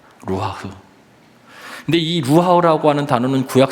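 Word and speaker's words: רוּחַ: 히브리어의 발음으로는 루하흐라고 이렇게 발음합니다. 루하흐.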